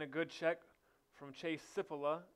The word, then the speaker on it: Cipolla: good check from Chase sip Allah as I was informed that's how you say it not Cipolla buts if Allah excuse